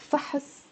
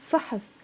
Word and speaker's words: فحص: It's a one syllable word. فحص. And it means a test. فحص. But if I put the fatha, فحص, there's a ha. فحص, it becomes two syllables.